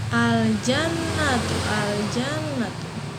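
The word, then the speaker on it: الجنة: Lam sukunnya itu kebaca ya. Lam sukunnya kebaca. Oke, lam sukunnya kebaca. Nah, sekarang contohnya misalkan apa? Misalnya al-jannatu ya, al-jannatu ya.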